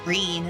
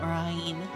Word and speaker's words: Rene: parties at this TR remembering to say her name is Rene and not Ryan if her name is